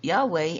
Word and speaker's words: Yahweh: literally means devoted to yahovah AKA Yahweh pronoun pronounced Yahweh the Tet tet Graton so so even Julia